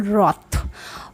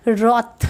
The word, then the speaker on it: wrath: यहाँ पे एक वर्ड है रॉथ, इसको हम लोग प्रोनाउंस करेंगे रॉथ, WRATH, ओके, बट हम लोग इसको प्रोनाउंस करेंगे रॉथ, रैथ नहीं। बहुत से बच्चे इसे रैथ बोलते हैं बट ये रैथ नहीं होगा, इसको रॉथ बोलेंगे जिसका कि मतलब होता है एंगर।